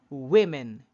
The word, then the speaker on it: women: woman woman woman woman but the plural you have that e sound on the first syllable you see that wo that wo sounds like w wo but that's in the singular form but in the plural form the wo sounds like we woman women wom women